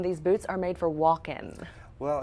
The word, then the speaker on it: Walken: state of Christopher Walken walk in like you spell it walk in okay it's not just walking but Christopher Walken that's